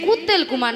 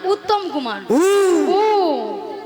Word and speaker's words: উত্তম কুমার: শ্রী ঠিক করে উচ্চারণ করো তুমি ঠিক করে উচ্চারণ করো বলো শ্রী শ্রী বলবে তো হ্যাঁ নিজে না বলো শ্রী শ্রী শ্রী শ্রী কুত্তেল কুমার নয় বলো উত্তম কুমার উত্তম কুমার হ্যাঁ নিয়া পুড়ে যা আমি কুত্তেল